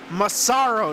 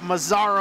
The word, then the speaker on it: Massaro: saying his name wrong it's Massaro not Mazar oh there's no Z which of course helped